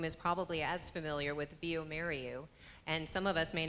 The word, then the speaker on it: bioMérieux: Now, Antonio, not everyone in the room is probably as familiar with bioMérieux, and some of us may not have known how to pronounce it until today.